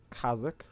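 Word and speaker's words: Kazakh: I can also um apparently I was pronouncing a certain name wrong somebody had told me uh crap where is it where is it so I I pronounced this uh but apparently it's kazak kazak Kaz yeah it's really weird oh yeah there's all the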